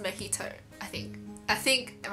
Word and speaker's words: mojito: mo mojito right cuz I thought it was called magito and everyone was like oh it's pronounced makito I think I think